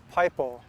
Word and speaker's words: paipo: and finally to just pipo which would be an english pronunciation of it so pipo was used